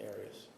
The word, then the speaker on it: Arias: we're talking here um your name has been pronounced in most of this trial areas is there another way of pronouncing it if you always pronounced at Aras I've heard it pronounced about seven different ways um I say Aras as does the rest of my family okay well let's back